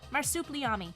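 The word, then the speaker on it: Marsupilami: Marsuplami.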